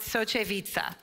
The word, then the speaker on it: Soczewica: say his last name but I I'm gonna pronounce it socheviza right really I did it ah thank you